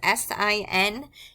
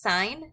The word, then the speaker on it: sin: typically abbreviated just as s i n it is pronounced sign not sin do not say sin it is a sin